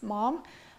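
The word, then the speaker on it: momme: It's 6 mom. It's spelled M-O-M-M-E.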